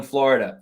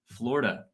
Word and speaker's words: Florida: Florida is 3 syllables. I looked this up. However, we're giving you a pass because who really says Florida? I'm more of a Florida guy.